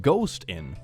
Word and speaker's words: Ghosten: is having a boy she's naming him ghosten pronounced ghost in okay ghost okay uh